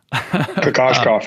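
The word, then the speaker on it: Kokoškov: You've mentioned a couple, Steve Donahue, Igor, I always butcher the last name, Kokoskov. Kokoskov, yeah, yes.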